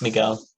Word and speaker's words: Miguel: Am I pronouncing your name correctly? It's Miguel.